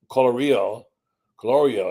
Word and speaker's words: Colorio: They acquired Highfield MRI, and Joe Colorio is how you pronounce it, I'm told, started Highfield in 1997.